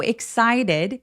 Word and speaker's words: excited: Excited 할 때요 t가 굴러가는 느낌 드는 거 느껴지세요? excited.